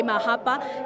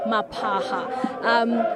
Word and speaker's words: Mapaha: I think I may have mispronounced his name earlier to say Mahapa. It is actually Mapaha.